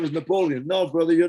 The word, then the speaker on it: Napoleon: And in Hawaii, the name Napoleon, not Napoleon, like they spell it in the United States, Lain, hello. No, it's Napoleon, like the city of Lyon, France.